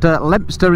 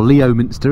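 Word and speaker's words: Leominster: around the edge of worcester now i've put lemster in the sat nav or leo minster is the way it's pronounced or rather not pronounced but spelled and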